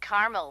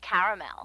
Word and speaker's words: caramel: what I said Tina actually you said caramel when it's pronounced caramel can't we just call